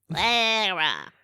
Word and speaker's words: Lara: Why can't Americans say Lara? Like, It what seems is- like pretentious. but that's her name. It's Lara Croft. Lara.